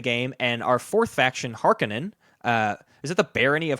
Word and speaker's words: Harkonnen: yeah their house their house or their health harkonnen god I always pronounce it incorrectly I wanted to be called har conan either people say that but the audio book